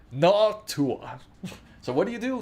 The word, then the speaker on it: Noctua: No, it's pronounced Noctua.